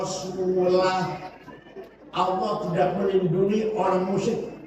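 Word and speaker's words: وَرَسُولُهُ: Wa anna Allaha bari'um minal musyrikin wa rasulih. Allah tidak melindungi orang musyrik dan tidak melindungi Rasulnya, Rasulullah. Salah. Yang benar bacanya wa anna Allaha bari'um minal musyrikin wa rasulah.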